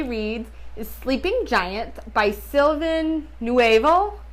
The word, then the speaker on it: Sylvain Neuvel: is sleeping Giants by silvin newal new silvin newal I think is how you say it so I started this